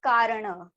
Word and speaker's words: kerana: It's pronounced as karana.